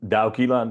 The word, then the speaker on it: Douwe Kiela: So um I'm Daquila. That's how I usually tell people to pronounce my name as in Dao Jones. And so it's a Dutch name originally.